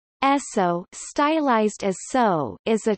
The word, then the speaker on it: Esso: The name is the phonetic pronunciation of the initials S and O in the name Standard Oil.